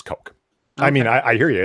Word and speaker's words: Koch: I thought it was Koch no it's coke I mean I hear ya its belt chaos eh but that's a German name and it's pronounced coke like as in coca-cola or the white powder yeah it's like the